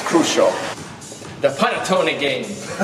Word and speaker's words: panettone: The panettone game. How do you say it? Panettone. Panettone, with a little accent, Italian.